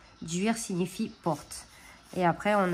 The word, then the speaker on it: duir: celte du chêne appelé dUIR prononcé dur ou d'ower dur signifie porte et après